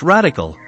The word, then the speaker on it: RDCL: winning vision driven strategy rdcl pronounced radical it stands for real